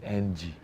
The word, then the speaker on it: Engee: But along the line, I feel like let me give it a little touch of E on it because it's becoming a little bit difficult for people to just say NG. Somebody will want to even pronounce it like Niger or something. I said no. So I had to add the E on it to make it NG. NG.